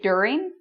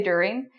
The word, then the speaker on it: during: You can actually say during. Some people say during. For me, that sounds kind of strange, but it's possible. Or you can pronounce this like a J and say during.